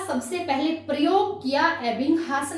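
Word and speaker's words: Ebbinghaus: हम इसको हिंदी में एबिंगहास बोल देते हैं, लेकिन इंग्लिश में जब प्रोनाउंसिएशन करेंगे तो हम इसको बोलेंगे एबिंगहास।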